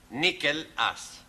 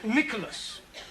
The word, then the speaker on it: Nicholas: Upon of times there was a man called nickel ass it's not quite right no no once upon a time there was a woman called nickel us it's pronounced Nicholas all right once upon a times there was